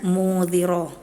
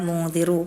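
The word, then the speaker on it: مُنذِرُ: Nah, tadi ana bacanya mudziro harusnya mudziru pakai harakat dumah.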